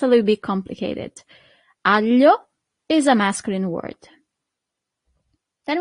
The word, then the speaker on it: aglio: The garlic, l'aglio. L'aglio. Here we have this combination of letter that for foreigners is always a little bit hard to pronounce, sorry. It's G-L-I, L. That's the sound, L.